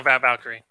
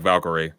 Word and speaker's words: Valkyrie: Yeah, Valkyrie or Valkyrie. No, Valkyrie. Okay, it's just the way it's spelled. It looks like Valkyrie, but that wasn't a common correction.